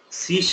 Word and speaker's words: C#: Generally, C# will be written as C#, okay, but pronounced as a C#.